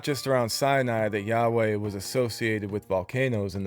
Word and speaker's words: Yahweh: We don't know how to even pronounce the name Yahweh, YHW, and there is no wide scholarly agreement on it. The most widely accepted pronunciation is Yahweh, but none of them are too sure about it.